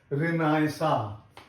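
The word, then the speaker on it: Renaissance: लेकिन जो French vocabulary है उसमें एन सी ई आ का स्वर देता है। तो इसको रेनासा बोला जाता है।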